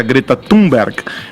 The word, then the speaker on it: Thunberg: O porta-voz da presidência, Otávio do Rego Barros, disse ontem que Jair Bolsonaro não foi descortês ao chamar a ativista sueca Greta Thunberg, a pronúncia é essa mesmo?